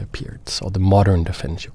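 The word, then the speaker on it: Pirc: Many people call it the Perk defense because that's how it's spelled, but it's actually pronounced Peart's, or the modern defense, you could also say.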